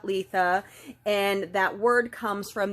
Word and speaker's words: Litha: um known as Letha sometimes I've heard it pronounced litha but I was taught Letha and that word comes